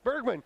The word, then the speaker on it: Bergman: hostile hostilities important ok Bergman rip one Berkman with a hard G in the middle and Frankie Giuliano with